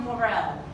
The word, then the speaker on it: morale: But we have morale.